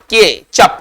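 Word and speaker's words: ketchup: शद spelling है ना केचप है ना इसमें टी आएगा लेकिन टी का उच्चारण नहीं होगा मतलब साइलेंट रहेगा तो केचप में टी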